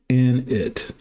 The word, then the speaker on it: init: You say it like init or got it. Okay, init.